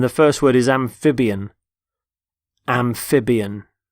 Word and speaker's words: amphibian: first word is amphibian amphibian notice the stress on the middle syllable amphib amphibian they're animals